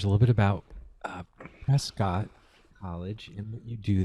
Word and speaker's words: Prescott: bit about prescott well first of all it's pronounced prescott rescue yeah prescott yeah like all these years